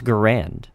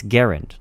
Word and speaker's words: Garand: That's right, I pronounced it correctly. It's not Garand, it's Garand. Look it up, trust me.